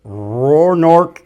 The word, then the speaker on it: Roanoke: We're at the Roanoke River Delta chapter banquet here in Plymouth, North Carolina, and I've got my buddies Hayden and Wyatt with us.